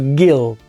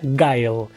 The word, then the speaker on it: Guile: en la que pronuncio Gil. Para pronunciarlo bien y en inglés sería Guile. Hay gente que le dice Guile, pero yo cuando era chico le decía Gil.